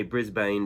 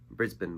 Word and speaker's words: Brisbane: jimmy's called brisbane bop i say brisbane because that's how it's pronounced in america brisbane bop anyway um you